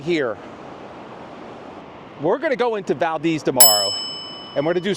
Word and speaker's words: Valdez: And it's not pronounced Valdez, it's Valdez.